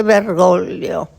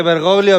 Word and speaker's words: Bergoglio: camarlengo y dice Jorge Bergollio. Y fue una gran emoción, una pronunciación media rara, ¿no? Ahora decir Jorge Bergoglio, me acuerdo que se le complicó el apellido, pero que fue sumamente emotivo.